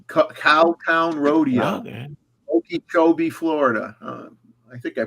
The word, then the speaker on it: Okeechobee: the, oh yeah, give me this kind of Okeechobee Cowtown Rodeo, Okay. Okeechobee, Florida. I think I pronounced that correctly.